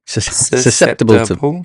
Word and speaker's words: susceptible: I look at that there's the four syllables susceptible susceptible earlier so yeah